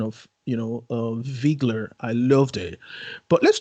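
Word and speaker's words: Wiegler: like the fact that they pronounce viggler with its german uh pronunciation as opposed to wiggler that's true yeah because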